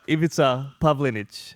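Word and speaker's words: Ivica Pavlinić: And today we're joined by Judo Master Ivita Pavlinage. Is that right? Did I pronounce that right?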